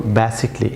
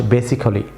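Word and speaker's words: basically: Viewers, আমরা এখানে ইংরেজি কোনো ওয়ার্ডের শেষে যদি ALLY অর্থাৎ ALLY থাকে, তাহলে ভিউয়ার্স এই লেটারটি এটি ভিউয়ার্স এটি সাইলেন্ট থাকবে। ভিউয়ার্স, তাহলে এটি শুদ্ধ প্রনাউন্সিয়েশন হবে বেসিক্যালি। আমার সঙ্গে বলুন বেসিকলি, নট বেসিক্যালি। আমার সঙ্গে বলুন বেসিকলি। আবার বলুন বেসিকলি, নট বেসিক্যালি, বেসিকলি।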